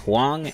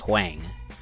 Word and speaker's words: Huang: It's pronounced Huang and not Huang.